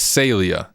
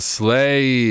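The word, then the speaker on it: Saleae: understand for marketing purposes clay hack says it's called slay is it really called slay is that really how you pronounce it command logic 2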